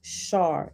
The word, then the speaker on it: Sar: called a sar pronounced shar and it has a footnote 37 for um shar the s in such translations as sar samus and ishtar is pronounced sh sh in transliterations making the words shar